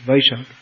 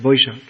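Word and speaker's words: বৈশাখ: boisaki jo means in here's the month of boishakh or in sanskrit it's vaishak in bengali pronounced boishakh so that is very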